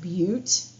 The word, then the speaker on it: Butte: yellowstone that is pronounced butte by the way i know what it looks like but it's beaut okay so there's grand